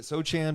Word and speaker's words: Sochan: Is it Sochan, by the way? Is that how you say it? Sochan.